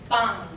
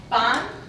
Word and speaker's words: pan: So if we take the word bread, I don't have it here, but pan, bread, it would sound more like pan, See, pan versus pan.